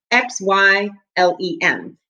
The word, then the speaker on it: xylem: these tubes called xylem XY LEM is how you say xylem and the xylem carries